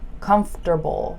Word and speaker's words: comfortable: okay come the yeah the M and the F just get squished together so comf just say